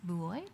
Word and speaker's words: buoyed: They were almost, how do you pronounce buoyed?